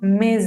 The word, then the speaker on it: mes: Esta S, esta última S es muda. Si esta palabra, que su última letra es muda, se encuentra con una palabra que empieza con vocal o con H muda, al momento de pronunciar lo vamos a unir. Por eso no decimos me a mí, sino mes a mí.